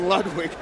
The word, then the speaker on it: Ludwig: Yes, he doesn't go with the German pronunciation based out of Denver, Colorado. It's Dwayne Bang Lewig as we've called him for about 5 years now going up against Steve Edwards.